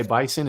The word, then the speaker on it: Bison: By the way, Bison is pronounced with a flippin' S.